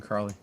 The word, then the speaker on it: Carley: He said it's like the dog, Collie. Oh. So that's how I remember. I always thought there was an R in there.